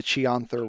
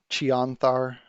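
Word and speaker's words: Chionthar: there beside you that is part of the chianther river which you would know from being in this region how do you spell that i o c-h-i-o-n t h a r chianthar river thank you sure thing and that was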